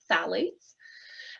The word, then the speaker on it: phthalates: we're concerned about in our home are called phthalates i know it's a funny little word there with the ph the phthalates but we pronounce it phthalates and satellites are also hormone disruptors so when